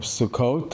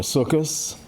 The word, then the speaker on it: Sukkot: Today is we're in the middle of the holiday of Sukkot or Sukus depending on your pronunciation.